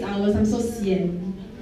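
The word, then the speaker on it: sian: So, the first word is going to be called cien, which is s i a n cen.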